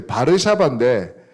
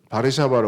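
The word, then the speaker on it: Warszawa: 꺼주시면 영어식 발음은 저거를 W 발음은 원래 그 독일어나 폴란드어는 비로 발음하거든요 근데 저기 w를 원래는 이제워 이렇게 발음하잖아요 그래서 영어식으로는 바르샤바라 월서라 그런대요 월서 한국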